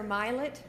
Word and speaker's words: Milet: Milet, or excuse me, Professor Milet, which rhymes with pilot.